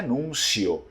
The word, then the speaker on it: Nunzio: Mas a pronúncia do povo do Vêneto é núncio, núncio.